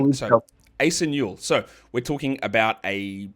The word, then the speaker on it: Asa Newell: Is that a Yep, correct I pronunciation? believe So so. Asa Newell.